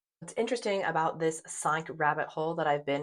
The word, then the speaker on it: cinq: Cinq, the K sound. I know it's spelled like a Q, but you pronounce it cinq.